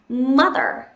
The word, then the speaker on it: mother: Trọng âm rơi vào âm tiết đầu tiên, thế nên chúng ta sẽ đọc thành mother, mother.